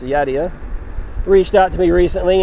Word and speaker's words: Yadea: a scooter so when yadia or yeah I think it's pronounced yadia reached out to me